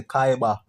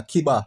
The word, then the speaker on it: Kiba: RicStorm pronounced the artist name wrong when him say Kaiba, but a Kiba, him really name, you see me?